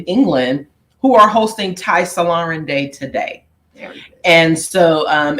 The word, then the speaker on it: Solarin: a a black non-believer his last name is pronounced salarin salar and uh yeah and so he Dr